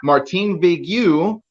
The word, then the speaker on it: Martin-Vegue: His name is Martin-Vegue, French. I said it right, I think. Huh? Yeah. Yeah, Yeah. sweet. But Yep. he tried to say it, oh, Martin-Vegue.